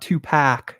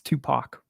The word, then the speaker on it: Tupac: don't be dissing it it's not it's not t Pac it's Tupac okay all you influencers been saying it wrong um so this